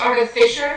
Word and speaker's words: artificer: It's pronounced artificer.